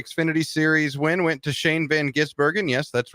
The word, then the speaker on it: Shane van Gisbergen: in NASCAR the Xfinity Series win went to Shane Van gisbergen yes that's right that's how you pronounce it it's not that difficult NASCAR on